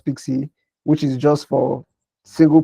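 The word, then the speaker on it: PKCE: authorization code with pxc pkc which you can pronounce pixie which is just for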